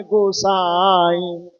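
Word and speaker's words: गोसाईं: जय जय जय हनुमान गोसाई, कृपा करहु गुरुदेव की। नाई नहीं, नाई नाक से थोड़ा बोलना, हंसुआ का उच्चारण है। ना का ई नहीं, नाई नहीं, नाई।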